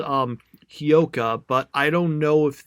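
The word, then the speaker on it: Hyouka: of the anime um it's oh sorry it's hioka and uh it's it's spelled and I'm telling you the I'm telling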